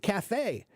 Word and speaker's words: cafe: like the word Cafe Cafe is a French word that's why that's why we pronounce it Cafe if it were English